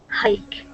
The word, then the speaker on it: hike: there it is hike hike good excellent job yeah so that that e is silent at the end and this is a long I sound hike what does it what